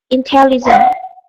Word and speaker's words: intelligence: Intelligence. The same thing, intelligence. With the CE and confidence and intelligence, have this S sound at the end.